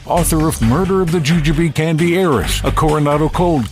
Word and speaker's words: Jujube: Baldwin Kiland, the author of Murder of the Jujube Candy Heiress, a Coronado cold case. Am I pronouncing Jujube correctly, Taylor?